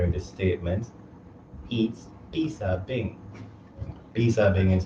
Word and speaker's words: 披萨饼: Pizza being is how you say Chinese in how you say pizza in Mandarin.